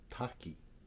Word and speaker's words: taki: Waterfall in Japanese is taki.